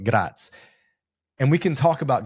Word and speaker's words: Graz: Vienna to southern Austria, you hit Gratz. It looks like Graz. We learned how to pronounce that one. Probably still butchering it, but Gratz.